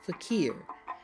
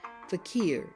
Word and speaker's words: fakir: i r is pronounced fakir fakir it is from Arabic then the second word